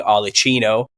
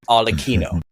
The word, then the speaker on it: Arlecchino: I've been saying Arlecchino, but in Italian it's pronounced Arlecchino, and that's where you get Harlequin.